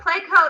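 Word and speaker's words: Pleco: first one i wanted to talk about was placo and this is a wonderful app especially if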